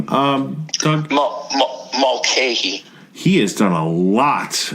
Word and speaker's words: Mulcahy: Mulcahy.